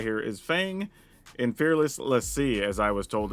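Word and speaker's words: l'Cie: Now, a fun thing we're going to try here is Fang and Fearless Lassie, as I was told it's pronounced.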